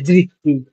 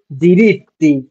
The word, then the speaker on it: diritti: diritti, non si dice dritti। Ok, মানে এটা কি বলে? non si dice কি? diritti, কি বলে? si dice, non si dice dritti, si dice diritti।